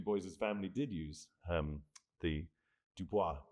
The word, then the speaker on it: Du Bois: But he always insisted, as you can see here, this is his writing, on the pronunciation Du Bois.